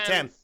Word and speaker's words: Thames: I can't pronounce it. Thames. Thank you.